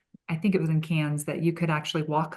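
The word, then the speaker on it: Cairns: Um but we we were able to go play in Sydney and Melbourne and we learned how to say cans. It's spelled C A I R Ns but cans.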